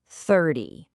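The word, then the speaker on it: thirty: So think of teen endings like loud teenagers. They drag out their vowels and the stress falls heavily on the last syllable. 13. In contrast, T sounds are like busy adult tens. They are short, precise, to the point, and the stress is always on the first syllable.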